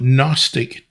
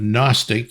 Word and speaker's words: Gnostic: teachings Gnostic references knowledge note the GN and the Ken there's a silent g at the front of Gnostic just as there's a silent k at the beginning of knowledge and more specifically secret